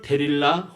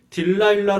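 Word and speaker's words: Delilah: 수렁에 빠져 버립니다 들리나 영어로는 데릴라 혹은 딜라일라 로 발음합니다 가수 조영남 씨가 번역해서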